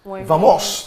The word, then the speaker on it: vamos: Vamos. Wow. Vamos. Vamos. No. So now Spanish... We don't say, in Spanish, the V is pronounced B.